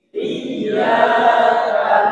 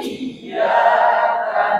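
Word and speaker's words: إياك: Tidak menjelaskan hamzah saat melafalkan kata iyyaka. Ini ada sebagian orang, tapi saya kira kalau saya selama mengamati di Indonesia jarang. Ini orang-orang Arab biasa. Ada yang baca iyyaka, ya, jadi i-nya gak dibaca. Iyyaka na'budu wa ya, jadi i-nya tidak terdengar. Jadi kan harus dibaca i. Itu ada hamzah ya.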